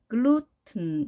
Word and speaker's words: gluten: 그래서 gluten 이렇게 발음이 되겠죠.